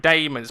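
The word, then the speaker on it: Daemon: AE as opposed to DA and it's Matt Damon's bounce pronounced Damon and Matt Damon why would you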